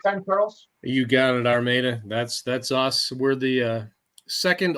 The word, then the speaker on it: Armada: You got it, Armada.